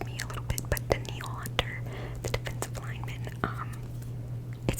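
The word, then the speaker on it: Danielle Hunter: B the Vikings um I always pronounce his name wrong but I'm pretty sure it's denal denil Hunter um spelled like Danielle which always confuses me a little bit but denal hunter the defensive lineman um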